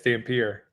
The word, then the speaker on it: Dampier: Dan Pierre. Yeah, I like that. I like it. What' you say? Dan Pier. Yes, Dan Pierre.